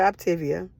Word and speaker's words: Optavia: this year to become an optavia coach some people call it optivia tomato tomato however you want to pronounce it it has been life